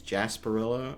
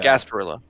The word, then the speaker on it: Gasparilla: doing this uh for for I think it's Jasper Barillo I think I'm pronouncing that correctly um which is like a Gasparilla Gasparilla sorry I think either way it's a